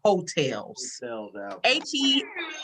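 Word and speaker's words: Heaux: that i'm looking forward to is jasmine sullivan's hotels they spell it the way y'all do actually h-e-a-u-x that's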